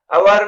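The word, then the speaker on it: hour: अवर में S silent है और ओ वावेल साउंड, इसलिए अवर से पहले एन यूज होगा।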